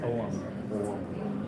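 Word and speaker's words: Ogham: You say The Om? 25, right? Yeah. Om? Is Om? Yeah. O-G-H-A. O-G-H-A-M. I've heard it. Pronounced Oum.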